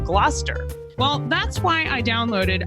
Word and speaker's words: Gloucester: Like originally I said Gloucester instead of Gloucester.